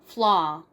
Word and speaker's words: flaw: 발음은 미국식 발음은 flaw, flaw.